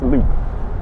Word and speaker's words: Lopp: Did I pronounce it correctly? Yes, you did. Wonderful. And Jameson, hang on, it's actually Jameson Loop. Correct. As you can tell, it's Loop.